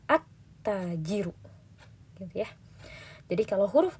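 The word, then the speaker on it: التاجر: Kita tidak membaca al-tajiru, tapi at-tajiru.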